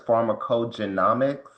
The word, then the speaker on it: pharmacogenomics: I think I was pronouncing the word incorrectly. It seems like it's pharmacogenomics.